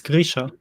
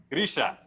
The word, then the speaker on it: Grisha: Yes, you said it correctly. It's Grisha. Grisha.